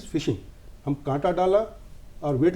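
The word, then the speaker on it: phishing: cyber fraud होता है उसको फिशिंग बोलते हैं भले उसका स्पेलिंग पीएच से शुरू हो बट इ फिशिंग हम कांटा डाला और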